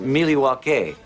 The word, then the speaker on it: Milwaukee: Actually, it's pronounced Miliwake, which is Algonquin for the good land.